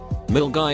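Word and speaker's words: Milngavie: guy which is Scotland mill guy is pronounced mill guy the middle school I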